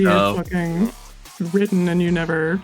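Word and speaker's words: Niamh: It's N-I-A-M-H. Yes. And it's pronounced Neve.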